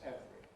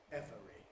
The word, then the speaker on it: every: Every. But to be honest, we always say this word as two syllables. Nobody normally says every. We say every.